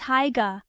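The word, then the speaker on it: Haigha: His name is Higa. He pronounced it so as to rhyme with mayor.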